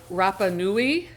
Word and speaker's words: Rapa Nui: mean Easter Island uh Rapa Nui I think is how it's pronounced is so remote that